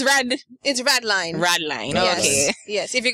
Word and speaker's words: Rädlein: But, you know, you can say Rädlein as well. But it's Rädlein.